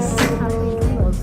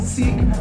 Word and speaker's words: Sikh: Some people pronounce it Sikh, but the actual pronunciation is Sikh.